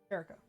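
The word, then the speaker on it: Kerio: would you assume you intended that to be pronounced Caro yeah is it more impressive in here than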